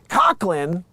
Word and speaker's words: Coughlin: While she and her daughter, Prim, and boyfriend, Rob, were on the 11-hour flight from Paris to Los Angeles, Coughlin, emphasis on the first part, said she felt that she deserved the sky-high siesta.